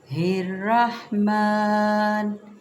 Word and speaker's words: الرحمن: ہا کے ساتھ، اس کو ہر رحمان نہیں ہے، یہ خدا را قرآن کو غلط تلفظ سے مت پڑھیں۔ بسم اللہ الرحمن، نون کو اب ہم نے را کے ساتھ ملانا ہے، را پہ پھر زبر، لیکن آگے ہا باریک آ رہی ہے، ٹھیک ہے، را کو